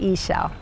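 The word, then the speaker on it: Ixchel: a Mayan background and they said she said ISA ISA so this goddess is a goddess of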